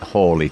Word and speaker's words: Halley: So, I I think I'm going to start saying Comet Halley, too, but Yeah. Yeah, we all grew up saying Halley, didn't Halley. Halley's Comet. Yeah. Patrick Moore used to say Halley, but he did change it towards the end of his life.